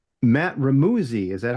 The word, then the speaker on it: Remuzzi: Matt Remuzzi, is that how you say your last name, Matt? It's Remuzzi. It rhymes with fuzzy, but everyone says Remuzzi when they look at it.